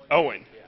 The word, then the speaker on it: Eoin: pronounce your name uh Owen Owen so the G the E is silent yes okay perfect all